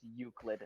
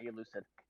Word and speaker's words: Euclid: classification you were pronouncing there is Euclid, not elucid.